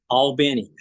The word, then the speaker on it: Albany: Albany. And just it's spelled Albany like Albany, New York, but it's as Jeff is saying it, which I don't know.